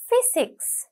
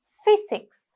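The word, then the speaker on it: physics: ஃபிசிக்ஸ், இப்போ இந்த இடத்துல ஒரு வித்தியாசம் வந்து இருக்கு. ஃபிசிக்ஸ், பிஹெச்ஒய் என்றாலும் நாங்கள் ப்ரொனன்சியேஷன் எப்படி பண்ணுறோம், ஃப சவுண்டோட. ஸோ அதனால ஃபிசிக்ஸ் வந்து இந்த இடத்துல தான் வரும்.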